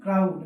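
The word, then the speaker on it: crowd: ক্রো পরেরটায় যদি আসি ক্রাউড সি আর ও ডব্লিউ ডি ক্রাউড এক্ষেত্রে আ উড আচ্ছা দেখো দেখো এই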